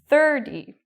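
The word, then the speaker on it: thirty: Whereas with 30, the stress is on the first part. 30. So I say the first part very loud and long, the second part very short.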